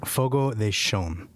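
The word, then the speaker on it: Fogo de Chão: Well, it's Brazilian Portuguese, so it's pronounced Fogo de Chao.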